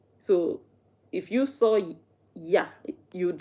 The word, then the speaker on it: ja: Um, so yes, in Dutch, uh, J is pronounced Y. So we spell Joan. In English you'd say Joan, but in Dutch it's yan. And in Dutch, yes is y. And that yah, they don't spell it y a.